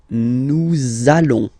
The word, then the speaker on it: nous allons: between the words, so it does mean that you will have to pronounce this z sound, okay, listen to me, nous allons, nous allons.